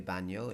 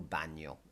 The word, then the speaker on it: baño: well which is junk food Mesa table el baño or el cuarto de baño in a more full kind of description is the bathroom but it's easy just to say el baño el baño and you spot the end with